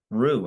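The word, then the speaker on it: Rui: our night you know you're saying his name wrong right what it's ruy Rue it's just short not whatever whatever honestly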